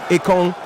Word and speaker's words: Ekong: Just to remind you again, that word Ekong is pronounced more like Ekong, and it means war.